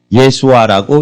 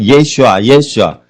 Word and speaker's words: 예슈아: 이는 저가 자기 백성을 죄에서 구원할 자이심이라 해서 예수라는 뜻은 예수아라고 히브리어 발음으로는 그렇게 됩니다. 예수아. 구원이라는 의미가 어원을 분석하면 있습니다. 그래서 어릴 때부터 예수님은 아기 때부터 구원아 이렇게 불렀습니다. 요즘 우리나라 말로 해석하면 이름이 구원입니다. 구원. 그래서 구원아 이렇게 부른 겁니다. 발음은 예슈아.